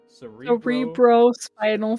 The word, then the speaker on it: cerebrospinal: So it's bro, not Briel. Right? Cerebral. Cerebro. Cerebrospinal fluid. Cerebro. Right? I'm saying it right, Bro. right? Right? Yeah, it's bro. It's like bro.